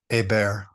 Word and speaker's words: Hébert: And is it, how do I pronounce her last name? Hébert.